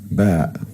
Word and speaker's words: ب: The second letter is ba, ba, and it's pronounced like b, just like the letter B in the English word boy.